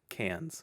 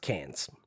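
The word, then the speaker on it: Cairns: it's got an R how do you spell it c a i r NS and it's said cans cans all right um tell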